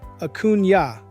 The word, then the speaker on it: Acuna: I'm Acuna, pronounced Acuna, but everyone calls me, and this is the Public Works Edge.